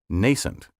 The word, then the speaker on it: nascent: nascency of american democracy you may have heard nascent pronounced with a long a nascent nascent has been listed as an alternative pronunciation in american dictionaries since the 19 word 23 exceed a